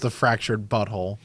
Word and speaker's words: The Fractured But Whole: it's pronounced the fractured butthole. Butthole.